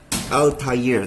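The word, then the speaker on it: Altaïr: Altair, this is how you pronounce it.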